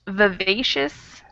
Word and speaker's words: vivacious: the first I can be a schwa sound. Vivacious instead of First I. vivacious. If I were teaching a class, I might say vivacious because that's like the technically correct pronunciation. But if I'm talking just casually, I probably would change that I to an sound. Vivacious.